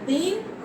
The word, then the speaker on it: दीन: ये चूंकि बड़ी की मात्रा है तो इसमें थोड़ा ज्यादा जोड़ देंगे और इस पर कम जोड़ देंगे, इससे अधिक समय लगता है बड़ी की मात्रा के उच्चारण में। इसके बड़ी की मात्रा के उच्चारण में छोटी की मात्रा यानी हर्षी की मात्रा के उच्चारण से इससे दुगुना समय बड़ी की मात्रा में लगता है।